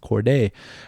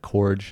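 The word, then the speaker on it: Cordae: by core day um it used to be ybn chordae but he dropped the yb he's pronouncing it nope core day um it's funny apple music calls it korg it's not that but anyways his song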